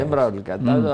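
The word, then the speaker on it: امرؤ القيس: امراء القیس عرب کہتے ہیں کہ تلفظ جو ہے امراء القیس.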